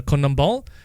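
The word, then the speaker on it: CONMEBOL: Central America so um I believe it's pronounced as the Kum ball and that is a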